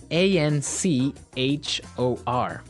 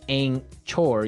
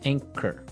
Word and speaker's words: anchor: anchor now it's spelled a n c h o r right but you don't pronounce the CH as you normally would right another one of